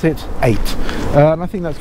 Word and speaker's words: eyot: but you pronounce it eight uh and I think that's called chisik 8 if I'm not mistaken e y o t is a normal spelling but you pronounce it eight Chic eight a little